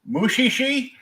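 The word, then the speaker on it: Mushishi: will proun yet another anime title wrong uh mushii uh actually you pronounced that right oh wow that was about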